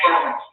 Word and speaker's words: Burwell: Yeah, Burwell. It's pronounced Burwell. And the way to remember that is rhymes with Burwell. So that's how I have to remember it.